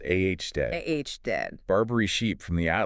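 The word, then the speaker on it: aoudad: Pronounced A.H. dead.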